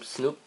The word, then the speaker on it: Snupped: This next product, this big package is from Snoop. That's how you pronounce their name.